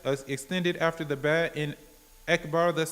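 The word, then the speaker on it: أكبر: So then he might find that over time he's saying Wakbar instead of Akbar. He needs to say Allahu Akbar. The Hamza is apparent.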